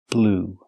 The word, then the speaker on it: blew: In the past, blew. That's right, just like the color blue, the pronunciation is the same.